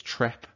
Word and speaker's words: Treppe: for a staircase so it's anglicized we just pronounce it as trep but it's anglicized and